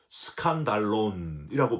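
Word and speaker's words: σκάνδαλον: 저와 여러분들이 됐으면 좋겠습니다 실족하게 하는이란 단어는 헬라어로 스칸달론이라고 발음을 해요 여러분 스캔들이라는 말 있잖아요 영어에 스캔들이 스캔들이 바로 스칸달론 온 말이에요 원래이 스칸 달로는 짐승을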